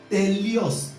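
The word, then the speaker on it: teleios: It is pronounced telios.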